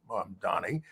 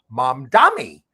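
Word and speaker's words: Mamdani: And she was very unnerved by Trump's rapro with mom Donnie. And what when she gave this interview, she repeatedly got his name wrong, calling him mom Dami.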